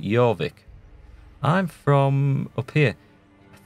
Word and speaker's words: Jorvik: And apparently the Vikings couldn't pronounce that when they conquered it, so they called it Jorvik.